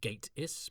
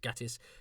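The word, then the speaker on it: Gatiss: I had a brief but cheerful chat with Mark Gatis during which a I learned how to pronounce his surname. It's Gateis, but he didn't mind Gatis as he said it reminded him of Gati.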